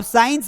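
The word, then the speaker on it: science: प्रिस्रिप्शन में लिखा है ये सी का कोई मतलब नहीं एस आई ई एन सी इससे साइंस बन रहा है इसका कोई साउंड नहीं सीजर में भी हमको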